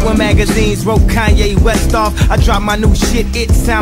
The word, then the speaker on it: Kanye: lane now all i need is y'all to pronounce my name it's kanye but some of my plastics still say kane cat family and a d can vote for